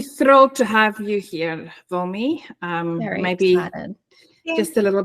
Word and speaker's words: Wilmi: Am I pronouncing that? Yeah. Yeah. Wilmi.